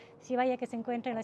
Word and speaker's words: Zivaya: entonces vaya aaya siaya cierto as está bien pronunciado sivaya que se encuentra en la ciudad de otavalo